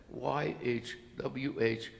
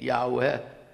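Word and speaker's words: YHWH: I invite you to try pronouncing YH wh with no vowels no matter what you learn in comparative religion course it ain't Yahweh which has two vowels in it it ain't yahovah which has three vowels in it doesn't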